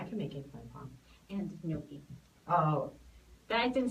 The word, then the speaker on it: gnocchi: And gnocchi.